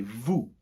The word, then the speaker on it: vous: So you guys, we would say vous. Vous. Très bien, again, not pronouncing that last S unless the following word or verb is starting with a vowel.